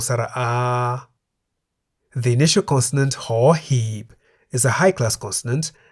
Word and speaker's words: ห หีบ: That is the consonant ห หีบ, which we can summarize as a consonant that sounds like a H at the beginning of a syllable.